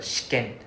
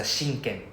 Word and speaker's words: 試験: Then after that, one more is the shiken. There's a shinken. There's an extra N.